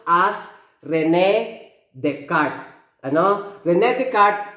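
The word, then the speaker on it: René Descartes: cartnia i'm spelling i but actually this is pronounced as rene descartes i know the net card introduced the rectangular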